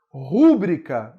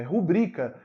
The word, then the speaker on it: rubrica: Rúbrica. Não existe essa palavra na língua portuguesa. A palavra não é rúbrica, é rubrica.